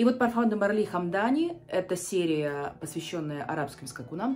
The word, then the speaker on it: Hamdani: сти где она почему-то называется хам Дани Судя по тому с чем она рифмуется но я смотрела перевод с арабского всё-таки это и поэтому я называю это хамда с ударением вот таким и очень Мне